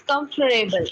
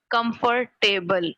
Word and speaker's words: comfortable: bit shorter yes it's comfortable it's not comfortable it's comfortable comfortable comfortable it's three syllable words it's not comfort comfortable it's not two-syllable word you people pronounce it comfort table it's not comfortable but